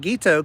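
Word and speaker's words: Guiteau: okay jerusa gito now not this Quito but guito killed President Garfield so yerusha yeah gito you're pronouncing it correctly so how are they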